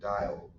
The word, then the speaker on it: Diehl: She has a middle name, Dial, but it's spelled weird. Like not like the soap, what is it?